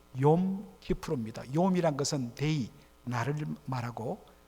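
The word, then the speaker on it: Kippur: 권사님이 히브리어로 뭐라 그랬죠요 키푸르 이걸 이제 미국 사람들이 영어식으로 발음하니요 키퍼 이렇게 발음하는데 원래는요 키푸르 용이란 것은 데이 나를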